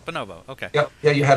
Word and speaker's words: bonobo: a thrower and am I saying it right bonobo or bonobo bonobo okay yeah yeah you had it right all